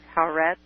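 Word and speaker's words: Haaretz: crazy um according to I guess it's pronounced haret h a a r TZ Harr Harret it's a a uh a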